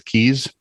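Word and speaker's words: Caius: it i'm not sure did you know that c-u-i-s-e is keys no it's a cambridge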